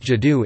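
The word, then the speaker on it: 基督: The two characters now pronounced Jidu in Mandarin Chinese were originally used phonetically to represent the name of Christ.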